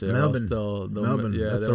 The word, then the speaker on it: Melbourne: I was in Melbourne, and that's the way you gotta pronounce it. Melbourne.